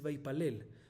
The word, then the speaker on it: ויפלל: Vaitpalel, con taf, no dice vaitpalel, se dice vaipalel.